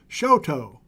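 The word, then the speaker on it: Choteau: with this guy Flint here's to Roger who helps me pronounce the name of that town in Montana as Shoto thank you Roger here's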